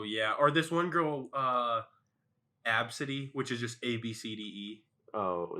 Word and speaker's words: Abcde: Or this one girl, Absidy, which is just ABCDE.